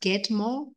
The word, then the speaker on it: Gadmo: That's Gadmo, pronounced Gadmo, but spelled Gadmo.